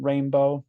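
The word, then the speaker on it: Rainbeau: higher self energy as Sovereign rainbow but it's spelled r-a-i-n-b-e-a-u I like the name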